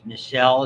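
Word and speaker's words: Nissl: certain amount of pigmentation they're refer to as nisel is how you pronounce that name chromatophilic substances in the rough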